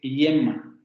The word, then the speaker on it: yema: No es una y, no es hielo, ni yeso, ni yema, es yema, yema, yema, con este fonema aproximante palatal sonoro.